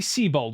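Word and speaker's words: Siebold: It's either Seabold or Cybold. It'd be Seabold because he's a water type elite four member.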